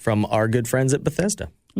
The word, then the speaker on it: Bethesda: Um Bezia Software is Bethesda.